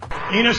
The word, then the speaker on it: Enos: Enos rhymes with Venus. Yes, it does. You thought I was going to say something else, right? That Enos was going to rhyme with genius, but we know you're